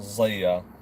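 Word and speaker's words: Zia: Why is Elvis's name Zaya? Well, first of all, let me just say this. I'll answer that question. My name is spelled Z-I-A, but it's actually pronounced Zaya.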